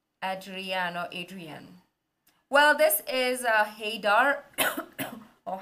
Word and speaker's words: Adrian: Yeah, somebody taught me how to pronounce his name, Adrian.